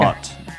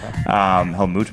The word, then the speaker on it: Helmut: Like spelled like Helmut. M-U-T, I guess. Helmut, maybe. Maybe you're it's closer. Helmut.